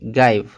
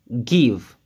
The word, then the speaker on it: give: ça c'est une exception on va pas la prononcer guys ça se prononce give div c'est le verbe donné en français olive